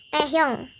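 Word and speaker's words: 태형: Taehyung, bacanya tuh Taehyung, agak kayak gitu Taehyung.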